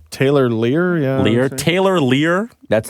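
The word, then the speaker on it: Leier: How do you pronounce his last name? Lear? Taylor Lear, yeah.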